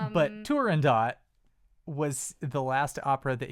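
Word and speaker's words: Turandot: I mean I pronounce the T because it's an Italian opera and they don't do silent T's.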